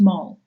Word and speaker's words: mol: is spelled m Mo it's still pronounced mole even though a mole